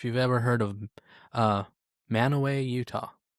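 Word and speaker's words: Mantua: Kind of like if you've ever heard of uh Manoway Utah. Yeah. M A N T U A pronounced man. Manoway. Manoway not Manua.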